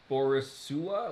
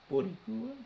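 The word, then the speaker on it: Boricua: Okay, on the list of things that you mispronounced, uh, Squido is still beneath Borisua.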